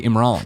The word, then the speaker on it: Imran: do Imran it but I know it's in Iran but I got to train myself to say Imran so here's the thing